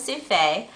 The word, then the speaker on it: Sufei: My name is Sufei. When I usually introduce myself, they don't really know how to pronounce souffle, so I tell them it's souffle without the L, even though I'm not French.